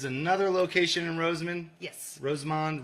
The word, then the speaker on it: Rosamond: understanding there is another location in Rosamond yes Rosemond Rosman there we go I said it right about